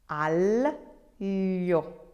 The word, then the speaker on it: aglio: Aglio. aglio, aglio. So you're saying an L sound before the terrible y sound.